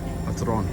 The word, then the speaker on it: Batroun: Patron.